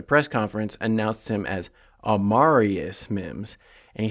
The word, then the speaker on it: Amarius: that's one thing everybody before the draft was pronouncing it a marus Mims but then as soon as they drafted him Zack Taylor at the press conference announced him as amarius Mims and he said it twice very distinctly amarius